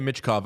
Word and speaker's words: Michkov: We know how to say his name. It's Michkov. Yeah, Michkov, the kid can play, and there is no doubt that he will help.